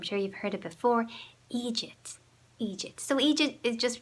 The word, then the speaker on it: eejit: Eejit.